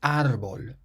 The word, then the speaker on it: árbol: Or the word for tree is árbol. Árbol. And it has an accent on the A, so that's why we say árbol and not árbol.